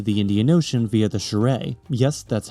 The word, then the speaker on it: Shire: Malawi, meanwhile, is very territorial over Lake Malawi, which connects to the Indian Ocean via the Shire. Yes, that's how it's pronounced.